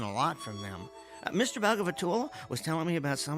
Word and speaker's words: Bhagavatula: Let me see if I remember how to pronounce it. Bhagavatula. Yeah, that's it. Bhagavatula.